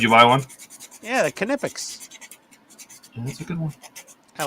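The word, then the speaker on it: Knipex: buy one yeah the kipic that's a good one I like it pics yeah it's so nice people call it naex but it's kipic ask the Germans they will confirm I don't know why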